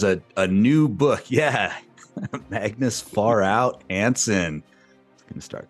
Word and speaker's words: Pharao: We are, is it Pharao or Pharao?